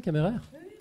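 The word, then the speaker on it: Kammerer: Je le prononce à la Suisse en fait, ça se prononce comme ça, Camerère ?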